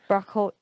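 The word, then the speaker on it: ברכות: You know, I say my morning brachas every day. You know, which isn't how you say it in the Jewish way. How do you say it in the Jewish way? What? Brachas? Brachot.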